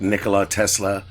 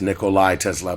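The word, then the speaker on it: Nikola Tesla: Now, those for you those of you who like Nicola Tesla, um that right there would would be the best thing. And I know I mispronounced it. It's Nicolai Tesla, but still for all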